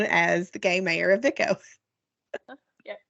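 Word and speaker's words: Vicco: So, Diana, how would you pronounce the first one? I hope I have this right. I'm pretty sure it's Vico.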